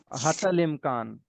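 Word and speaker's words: حتى الإمكان: अब यहां पे हती लिखा हुआ है लेकिन हत पे वो उसको रोक देते हैं। इ की साउंड साइलेंट है। उसके बाद अल इमकान तो वह हतल इमकान हो गया।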